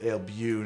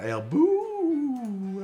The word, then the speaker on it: Ailbu: You pronounce it Ailbu, not Ailbu, as your current handle seems to indicate.